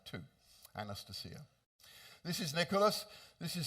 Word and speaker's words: Anastasia: I know most people say Anastasia. My wife, who is Russian, tells me the correct pronunciation is Anastasia.